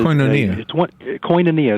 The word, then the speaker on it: Koinonia: Is it Koinonia? I've heard of that group. Koinonia is Koinonia is how it's pronounced, and it's a Greek word that means